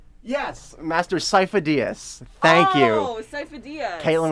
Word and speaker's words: Sifo-Dyas: I don't know how to pronounce it, but there's the name. Yes, Master Sifo-Dyas.